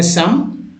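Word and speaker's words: some: इसको पढ़ेंगे सम, शम, एबा, अबाउट, प्रूव, टोन।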